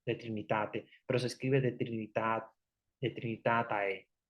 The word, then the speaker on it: De Trinitate: en latín, se llama De Trinitate. Bueno, al final le ponen AE porque es, pero en realidad se pronuncia como una E, de Trinitate, pero se escribe de Trinitatae, Tatae, al final.